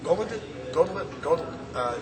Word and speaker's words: Hauglid: Is that how you pronounce his name? Hauglid.